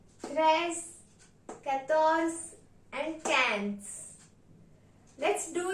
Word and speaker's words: treize: 13 is pronounced in French as treize.